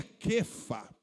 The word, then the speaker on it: Cefas: que é o nome Cefas. Diga assim, irmão, Cefas. Cefas, irmãos, é um nome grego, oriundo do aramaico, que o grego ele pronuncia Kefa, Kefalis.